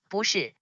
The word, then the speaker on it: 不是: However, when two consecutive words have the fourth tone, the first word is pronounced in the second tone. For example, 不是, which means wrong or not right.